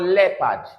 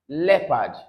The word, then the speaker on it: leopard: This called leopard. Leopard. All right. Leopard. So this E and O both are pronounced together as E.